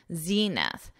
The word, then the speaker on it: zenith: Notice the pronunciation. We have that long E, Z, zenith.